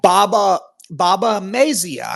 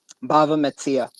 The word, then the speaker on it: Bava Metzia: So yeah, Baba Mazia. I'm not sure I'm pronouncing it right again. So 24A. Yeah, you might want to. Is that how you say it? Bava Metzia. Yep.